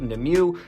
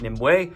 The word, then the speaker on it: Nimue: Also, unfortunately, I called the main character the way I pronounced her name growing up as a kid, Nimue, not Nimue, which is the way it's said in the show and in the authorian legend.